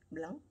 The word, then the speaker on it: blanc: 불어 진짜 어려운 것은 그 발음과 S 발음은 하지 않은 거예요. 블랑, 베, 엘, 아, 엔, 엔, 세로 이렇게 쓰는데 그 세가 발음하잖아요. 그냥 블랑.